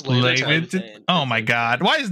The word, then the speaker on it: Laevateinn: I've been saying Flame of Leviathan, but it's Laevateinn.